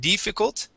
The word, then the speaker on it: difficult: word uh with difficult make sure to pronounce short eyes both at the beginning and in the middle def instead of it difficult it is D difficult